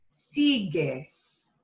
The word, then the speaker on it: sigues: so it's sigo sigo but now the u has to come back to give the g the g sound again so la forma de tu es sigues el he keeps on